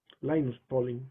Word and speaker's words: Linus Pauling: que muy muy grande linus pauling lines polling en realidad es como se pronuncia y el desarrollo por primera